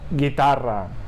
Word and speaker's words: guitarra: Por ejemplo, guerra o guitarra. Aquí, atención, la U no se pronuncia, ¿sí? Por eso decimos guerra o guitarra. No decimos guerra o guitarra. La U no se pronuncia nunca.